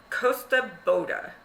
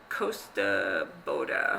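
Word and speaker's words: Kosta Boda: So on another YouTuber that I watch has been talking about glass called Costa Boda, and it's spelled Kostaboda, and it is Swedish, in the Swedish glass.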